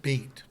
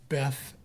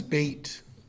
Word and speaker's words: Beth: is known as bit it looks like Beth but you pronounce it bate if you're English you pronounce it Beth you may have heard this word before like in Beth Israel it means house